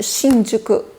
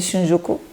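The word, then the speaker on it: Shinjuku: E por fim, eu li aqui os gatos de Shinjuko. Estou a pronunciar a japonesa. Se quiserem dizer Xinju, força.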